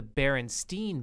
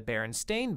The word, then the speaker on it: Berenstain: name that's right so people report remembering the famous children book series to be The Berenstein Bears spelled s-t-e-i-n when in actuality it is the Berenstain Bears b-e-r-e-n-s-t-a-i-n and I'll give you